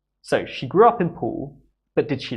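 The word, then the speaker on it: Poole: of the town is pool like swimming pool or pool table the pronunciation is the same the spelling is a little bit different we have an extra e on the name of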